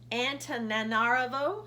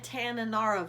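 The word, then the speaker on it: Antananarivo: country of Madagascar and I'm totally going to butcher this this pronunciation I'm gonna try antonin Arlo and Tanana Rove oh I think and Tanana rebo's a n ta n a n AR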